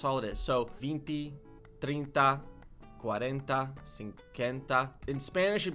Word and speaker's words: trinta: 30 is trinte. Right, trinte? Trinta. Trinta. Okay, there's an A at the end of that.